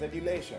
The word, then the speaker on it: adulation: That is something like as adulation. You can relate this word with another term, modulation. These two have the same pronunciation. Adulation, modulation.